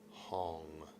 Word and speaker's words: Hong: And tonight, as you breathe, say in your mind as you inhale, hong like h o n g hong.